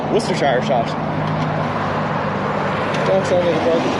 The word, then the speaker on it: Worcestershire: It's easy if you're from New England, you pronounce it like Worcester. Worcestershire sauce.